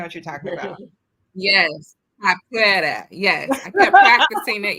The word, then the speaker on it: Capoeira: We had entertainment, a group called Capora, and I'm probably not saying it with the correct, accent on the correct letters, but it was a Afro-Brazilian kind of like martial arts dance. Capoeira. That's what it is.